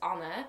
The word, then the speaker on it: Anne: So for those of you that don't know, I am Dutch, which is why my name is spelled A-N-N-E, but it's pronounced Anna.